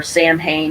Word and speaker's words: Samhain: so by Halloween which is so in our Samhain is the way it's spelled but it's actually pronounced sewing or so we so that would be the